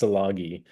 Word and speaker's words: salagi: last name is pronounced salagi salagi okay I always tell people it's like um if you swap the m in the word salami with a hard G then you're you're golden